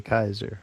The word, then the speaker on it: Caesar: They spell it Caesar, but they say Kaiser.